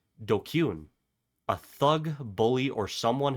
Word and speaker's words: DQN: DQN, pronounced dkune.